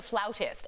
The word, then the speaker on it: flautist: She is a flautist, and that's how you say it.